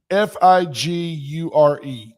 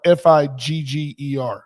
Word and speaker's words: figure: So when you say FIGURE, is it FIG like YUR figure, or is it more like FIGGER figure? Figure. You pronounce the U.